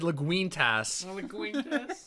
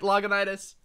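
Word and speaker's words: Lagunitas: ] on me for intentionally pro pronouncing it logonitis because he said leguintas yeah liguintus look look everyone else is doing trying to say it like you said it i was right loganitis remember and it foamed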